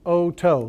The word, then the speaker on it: oto: So oto, which is the root for ear, we'll go through that in a little bit, is pronounced o-toe, like, oh, I stubbed my toe. Okay, so o-toe.